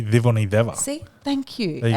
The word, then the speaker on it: Civoniceva: So in Fijian, the letter C is pronounced like a TH. Yes. So it's like a the. Yep. So it's really Civoniceva.